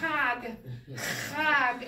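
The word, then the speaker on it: חג: Remember, when you're first trying, make it ugly. Be like, chag, chag, and then pull it back. Chag, chag, chag.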